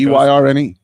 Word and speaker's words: Byrne: I think Byrne. Anybody can spell Byrne. Come on, it's not that hard. Well, I actually changed mine phonetically to Burn because I pronounce it incorrectly all the time if I did.